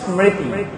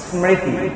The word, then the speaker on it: স্মৃতি: আচ্ছা এটা উচ্চারণ হবে স্মৃতি। কি এটা উচ্চারণ হবে? কি স্মৃতি।